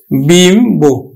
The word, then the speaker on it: বিম্ব: আবার দেখো বিম্ব, আমরা দেখো এই বফলাটার উচ্চারণ কিন্তু করছি, বয়সী ম, বিম্ব।